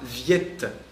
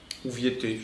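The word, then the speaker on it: Viète: un mathématicien qui s'appelle François Viet viettez ça dépend comment vous le prononcez mais voilà Viette et qui va révolutionner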